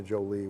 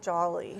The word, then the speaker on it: Jolie: Okay, but we can get there from, and it's Jolie like Angelina Jolie with the Jolie, and pronounce it that way too, because she doesn't like That's it if you right. don't pronounce it that way. I just don't like Jolly. She's not Jolly, she's not Jolene like the Dolly Parton song, which we I were